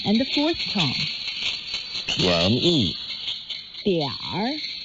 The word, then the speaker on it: 点儿: 点儿 means a little, and it's in the third tone.